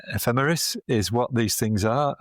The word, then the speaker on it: ephemeris: And uh yeah, you your pronunciation is correct. Ephemeris is what these things are and ephemerities is what a lot of them are.